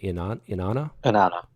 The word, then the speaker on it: Inanna: The Sumerian goddess, how do you pronounce it? Inanna.